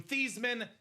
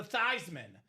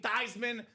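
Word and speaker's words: Theismann: So Joe Theman sold out for the Heisman Trophy, changed the pronunciation of his last name from Theman to Thyman so they can campaign Thyman for the Heisman.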